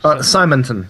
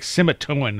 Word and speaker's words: Simonton: Simonton. Simonton. Okay. Mm-hmm. I always think it's like Simitoan or something like that.